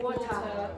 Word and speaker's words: water: Irish people will pronounce the R, but very often the T will become what's called a glottal stop.